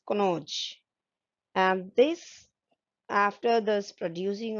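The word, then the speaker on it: Kannauj: so many words like just like kanoj it is in uttar pradesh which is pronounced as konoj and this after this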